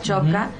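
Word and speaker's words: Ciocca: Se pronuncia Choca, que ese es otro gran tema en nuestra región, el tema de la escritura de los apellidos.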